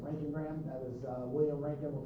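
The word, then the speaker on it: roentgenogram: That is pronounced Rankingram. Don't try to say it unless you're going to say Rankingram.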